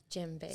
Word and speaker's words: djembe: Djembe. So the djembe is the word that most people are used to, and it's spelled D-J-E-M-B-E.